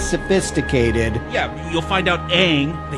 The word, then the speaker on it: Aang: yeah you'll find out Aang they call him on in this movie you've got a whole Constantine Constantine situation going on now it rhymes with wrong yes but yeah you